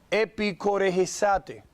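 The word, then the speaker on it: ἐπιχορηγήσατε: Escuche cómo se pronuncia en español. Se dice epicoregesate. Ahora, en inglés, esa palabra ahí, core, esa es la palabra que nosotros le llamamos chorus o choir.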